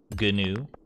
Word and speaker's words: gnu: that's a good one with the silent g gnu muck that's a pokemon